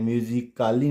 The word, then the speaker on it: musically: Silent होगा। चलिए देखते हैं। MUSICALLY म्यूजिकली, इसको हम म्यूजिकली या म्यूजिकाली नहीं पढ़ेंगे, इसको हम क्या प्रोनाउंस करेंगे?